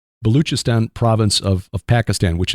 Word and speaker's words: Baluchistan: baluchistan and I think that's how Tim said to pronounce it the the CH instead of a c baluchistan province of of Pakistan